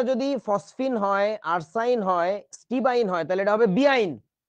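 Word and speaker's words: stibine: এরকম মানে বানানটা এরকম স্টিবাইন অথবা এটাকে কি বলা উচিত ছিল বলতো এটাকে বলা যেত স্টিবিন স্টিবাইন বা স্টিবিন কিন্তু আমাদের দেশে যে কাজটা করে এটাকে বলে শুধু স্টিবাইন বুঝেছো আচ্ছা তারপরে আসো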